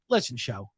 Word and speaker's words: Shough: Listen, Shough. Yeah. It doesn't take a marketing genius to say what does shuck rhyme with and what does show rhyme with.